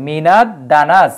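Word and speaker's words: مِنَ الدَّنَسِ: জন্য মিনা লেখা হয়েছে মিনা দানাস এবং এই দাল হরফটাও কিন্তু সূর্যাক্ষর এজন্য কিন্তু আলিফ লামের উচ্চারণ এই জায়গায় হয়নি ঠিক আছে যদি আবার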